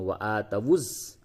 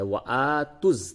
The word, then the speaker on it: وَآتُوا: وَآتَوُا الزَّكَاةَ پڑھتے ہیں وَآتَوُز، یہ غلط ہے. وَآتُز تا کو ڈائریکٹ آپ کو زا سے ملانا ہے. اس جگہ پہ واو الف پھر یہ لام، یہ 4 حروف نہیں پڑھے جائیں گے.